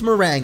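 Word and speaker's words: meringue: yeah okay okay okay merang merang mering mering mering I don't know dude apparently it's mering okay a delicate frothy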